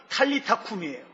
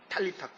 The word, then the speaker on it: 탈리타쿰: 아람어로 탈리타는 뭐냐면 소녀라는 뜻이에요. 쿰은 일어나라는 뜻이에요. 그래서 원래 발음은 탈리타쿰이에요. 탈리타쿰.